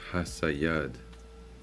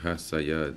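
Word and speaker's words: חָסִיד: And how you say it is Hasayad. All right, Hasayad.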